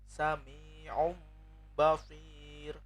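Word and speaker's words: سَمِيعٌ بَصِيرٌ: Kemudian yang dari tanwin sami'um basir. Un dibaca aum.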